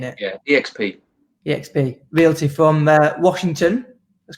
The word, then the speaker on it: eXp: Do you pronounce it EXP or X? How are you saying it? Yeah, EXP.